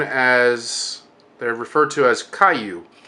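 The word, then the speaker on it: 怪獣: I'm saying it right and that's how you pronounce and he said Caillou so which translates to strange creature but in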